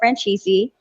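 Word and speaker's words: Franzese: who's the other guy michael francisi right michael francisi he has a youtube channel and he's like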